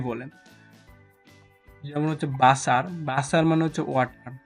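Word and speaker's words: Wasser: যেমনটা হচ্ছে পূর্বে বলেছিলাম যে জার্মানরা বেশিরভাগ ক্ষেত্রেই বে এ শব্দ এ সাউন্ডটা জার্মানরা বেশিরভাগ ক্ষেত্রেই উচ্চারণ করে। জার্মানরা বেশিরভাগ ক্ষেত্রেই এ সাউন্ড করে। যেমন হচ্ছে বাসা মানে হচ্ছে যেমন হচ্ছে বাসা মানে হচ্ছে ওয়াটার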